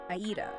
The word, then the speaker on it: 間: period of time, and the character is pronounced "aida." And just as a quick note for anyone familiar with Japanese who's listening, we are strictly reading this character as "aida" today, never "ma."